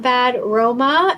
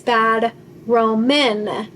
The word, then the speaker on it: Bad Roman: restaurant name wrong earlier it's not bad Roma it's bad Roman so same same but